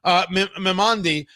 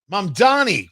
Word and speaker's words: Mamdani: commies, whether it's Zoran Mimandi. Wait, I'm not pronouncing his name right. All right, what's his last name? Mamdani. Why did I say that all wrong?